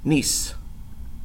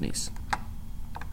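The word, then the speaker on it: gneiss: get to it and I think the G is silent and it's pronounced nice I hope I'm not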